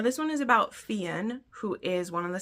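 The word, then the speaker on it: Fionn: over here Fen sorry it it looks like it'd be Finn but she does she does provide pronunciation guides which is great so before I ever read the book I was like saying the name right from previous books cuz it's spelled f i o NN and it's Irish and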